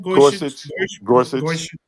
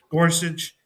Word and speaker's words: Gorsuch: The three liberal judges were joined by Chief Justice Roberts, by uh Neil, how you pronounce that boy name. Gorsuch Gorsuch and Amy Conner Barrett Comey Barrett.